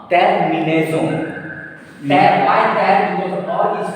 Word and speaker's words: terminaison: And S is placed between two vowels. So S will be pronounced Z.